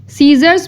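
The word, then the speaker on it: scissors: बी बी हम लोग pronounce नहीं करेंगे सीजर सीजर्स में सी साइलेंट है अब ऐसे से सीजर स्टार्ट हो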